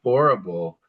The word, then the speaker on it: horrible: Horrible is spelled just like horrible. Horrible. Remember that the H's are not pronounced, so it makes it horrible.